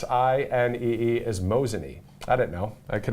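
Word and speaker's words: Mosinee: your your town there and I believe it's mosan so m o s i NE is mosan I didn't know it could have been MOS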